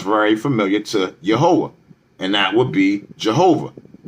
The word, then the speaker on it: Yehowah: So God's true name would be this right here, Yehowah. Or you could either use the E or the A in the beginning, but the way to pronounce the Tetragrammaton, the YHWH, is Yehowah.